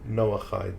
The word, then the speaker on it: Noahide: And it just, when she said that, I'm like, oh, that's like the 7, I keep saying it wrong, the Eid laws of Noah? Noahide laws.